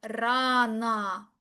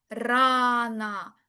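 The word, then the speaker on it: рано: La palabra rana, rana, la tilde en la a, por lo cual la o se lee como una a.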